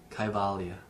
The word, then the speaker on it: Kaivalya: Kaivalya.